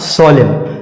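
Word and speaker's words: solemn: एल ई एम एन सोलिम एम के बाद इसमें भी एन आया है और इसमें भी हम लोग जो है एन का उच्चारण नहीं करेंगे अकॉर्डिंग टू द रूल तो इसका सही उच्चारण क्या हो जाएगा सोलिम सोलिम और सोलिम का मतलब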